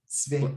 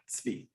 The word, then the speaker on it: Tzvi: Just like that. Tzvi. Like pizza. Tzvi.